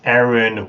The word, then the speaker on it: Arin: is like near their country of Arin which I just pronounced wrong and um it's Aaron we I don't know